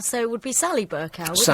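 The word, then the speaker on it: Bercow: Burau, but people are bending over backwards in order to pronounce it some other way. Burau. It's John Burkow. So it would be Sally Burkow.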